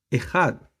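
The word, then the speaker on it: אחד: número uno o sea ead así se pronuncia en el hebreo ead cuando Dios el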